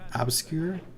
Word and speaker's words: obscure: meat obscured is it obscure I thought it was just secure or I can't even say that obscure you put an emphasis on the our Ure I don't know